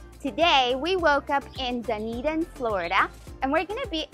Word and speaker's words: Dunedin: Before we continue, let's make sure that we know that the city we're exploring today is Dunedin. Dunedin. And now that we know how to say it correctly, we can go ahead and start exploring.